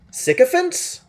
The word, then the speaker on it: sycophant: Sycophants? Hang on, I need to know how this word is pronounced.